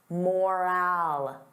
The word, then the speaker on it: morale: Now, compare that to moral. Moral. The sound is less stressed. I don't open my mouth as wide.